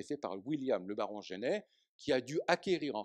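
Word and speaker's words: Jenney: Alors, je suis, à l'heure actuelle, convoqué à un colloque sur William le Baron Genet, ça s'écrit comme en français, J-E-N-N-E-Y, il est dans le papier que vous avez.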